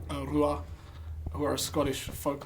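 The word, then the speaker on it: Ruadh: uh the album sovereign by rua spelled r-u-a-d-h check it out awesome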